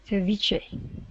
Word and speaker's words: ceviche: Ceviche.